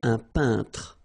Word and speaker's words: peintre: So remember when you get this E-I-N together here, then you pronounce this un sound. So nasal in your nose, un peintre. All right, and remember, final here is not pronounced. It only gives you the possibility to pronounce these two letters. So tr, tr, okay.